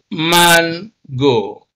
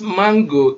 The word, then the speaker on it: mango: syllable you see and because mango is a noun a two syllable word that is used as a noun is almost always stressed on the first syllable and so we can